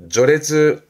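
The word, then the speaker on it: 序列: 조레즈. 그렇죠. 행렬이지요.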